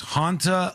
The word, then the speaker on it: Hantavirus: Hanta, like haunted, all right?